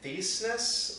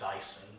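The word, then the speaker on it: Thiessen: Though I think the director, Jason Theisnes, I think his name is? I think it's pronounced Thyssen. Jason Thyssen or something was the director of this movie.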